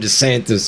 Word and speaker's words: DeSantis: you are Barkley Raul Ron DeSantis over here rhymes with the Santas Bob he must have